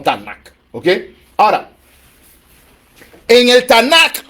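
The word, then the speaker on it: Tanakh: escritos usan un acróstico una sigla tnk que se pronuncia como tanac Okay ahora en el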